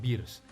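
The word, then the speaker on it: Beerus: El modo de pronunciarlo, la verdad, no me acaba de quedar muy claro, ya que hay demasiada confusión al respecto. Según parece, lo más correcto posible sería llamarlo Beers, pero la verdad es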